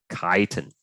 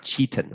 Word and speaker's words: chitin: starch glycogen cellulose and chitin okay not cheaten okay caitanya that's how you pronounce it so where can